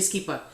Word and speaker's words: Skeeper: For those, it's not a regular skipper, it's Skeeper, like double E.